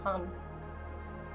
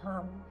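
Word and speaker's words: ham: the B manra for the throat Cher is hum h a m pronounced like h a hm hum so take a deep breath in open mouth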